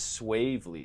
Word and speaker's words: Swavely: men's team we have Brock winter and swavely did I pronounce that right that's right I did we're